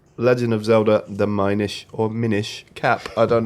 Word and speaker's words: Minish: Because it's Yeah. spelled the same way as Finnish.